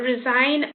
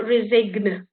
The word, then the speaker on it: resign: You got resign or rain. The G is silent. You don't go resigne or reign because it will change it. It's just a silent one in there.